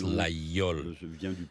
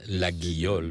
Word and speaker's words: Laguiole: Yes, in the southwest of France we pronounce Laguiole because this name comes from a local language meaning little church, and Laguiole because it's the phonetically it's the name of the place and of the knife.